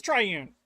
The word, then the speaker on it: triune: It is triune. I was pronouncing it right the whole time.